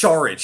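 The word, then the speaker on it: Šarić: it's Saric. Yeah, you pronounce his Yeah, last it's name Saric. with a yeah, with an SH, even though it's just S. Yeah, it's Yeah, proper Saric.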